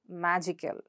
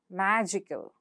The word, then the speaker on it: magical: Example, magical, critical. So again, underline, ikel goes, and the ikel is underlined, and what's the syllable preceding the suffix?